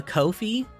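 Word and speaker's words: Ko-fi: the comment section for not saying Kofi right and here it is Kofi it's called Kofi you can't argue with me cuz that's how the company says it so uh I have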